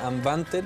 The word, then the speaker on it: Nwandter: Se dice Anbante, pero se escribe Anwandeter.